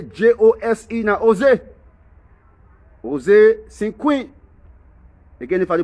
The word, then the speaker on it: Cinque: noam asked joseph cynic before they pronounce that last name they write c-i-n-q-u-e or sin queen and one thing i